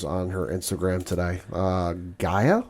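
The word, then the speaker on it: G'iah: her Instagram today uh Gaia I think is how you say it yeah g apostrophe IAH yeah and his tallest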